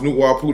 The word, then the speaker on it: Nawapu: Nawapu is pronounced Nuwapu.